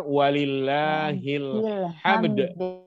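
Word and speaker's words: ولله الحمد: saatnya walillahilham lebih bacanya yang benar yang benar walillahilhamd adalah yang baca udah bagus-bagus lagunya bacanya Salah waye lemah kilham kreditqq Ilham milik Allah dengan yang pasti sekali bukan Ilham Ilham ngisi Bukan tapi alatmu alhabsyi pujian disitu bukan Ilham ya Ia berubah arti merubah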